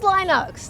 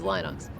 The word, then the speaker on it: Linux: result when Google says Linux Linux that's not Linux there's no I on the second half of the word LX uh couldn't resist it it's short eye and rhymes with sin bin then L Linux isn't